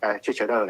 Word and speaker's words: Cicero: called I Tweets di Cicerone, I think, which is Cicero's tweets. Although, of course, Cicero would have pronounced his name Cicero because all C's in Latin were hard.